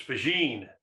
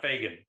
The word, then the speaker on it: Faggin: It's Faggin, not Faggin. Well, I wasn't at Intel either when the development of the 4004 happened.